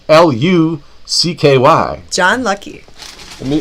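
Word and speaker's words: Hlucky: name is spelled h l u c k y John lucky me the H is silent yes like the pee and swimming pool I love like big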